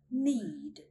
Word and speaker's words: knead: We do not sound out the letter K when it comes before an N at the beginning of a word. Here's some examples. Need, need.